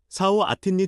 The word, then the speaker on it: เสาร์อาทิตย์: ๆ เสาร์อาทิตย์นี้ฉันจะพาลูกๆไปดูสัตว์ 사오 아틴니 찬자파 룩룩파이 두사. 발음 가이드. เสาร์อาทิตย์ 은 주말. 한국어 사오아틴처럼 들림.